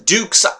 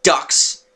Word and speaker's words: Dux: there but and yes it's not Tyson ducks Tyson Duke see when I reading it it's like Tyson ducks no it's Tyson dukes like Duke Nukem or nukes I don't